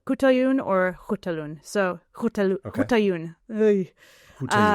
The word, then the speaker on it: Khutulun: No one really knows how to pronounce her name, but most places I saw was Coutalun. Coutun or Hutalun.